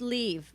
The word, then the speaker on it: Love: aline love she goes it's leave but i spell it love but you call me leave yeah or love you spell leave l-o-v-e and i said to